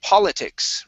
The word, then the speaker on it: politics: is the word uh politics right here instead of poli politics it's paul the o o is o is an o is an ah sound politics okay one more